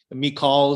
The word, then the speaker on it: Michal: I'll just call her Michael, but Michal is more appropriate.